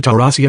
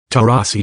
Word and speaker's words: Taurasi: Mercury star Diana Taurasi announced her retirement on Tuesday, ending a 20-year